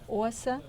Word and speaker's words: Osa: Osa, like awesome.